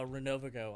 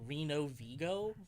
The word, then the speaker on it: Renovo: A lot of people's first instinct for some reason is Reno VGO which I thought